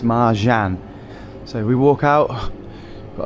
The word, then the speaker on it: Marcan: So it is pronounced Mahan. I thought it was Maran or Maran or something, but it's Mahan.